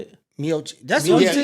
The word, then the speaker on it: Miocic: Miocic. That's Miocic? who yeah, he did. MIOCIC. Did he take it from him? No. Or is this somebody had an intro because he ended up stopping? No. Miocic didn't have it.